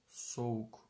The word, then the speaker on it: soğuk: This will be completely omitted. So it's pronounced soğuk, soğuk, soğuk, soğuk. In some dialects you will hear soğuk, soğuk with a little, like the Greek gamma actually. But in standard Turkish we don't pronounce it at all.